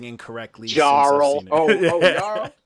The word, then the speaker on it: Jarl: What's going on with this name that I've been pronouncing incorrectly? Jarl.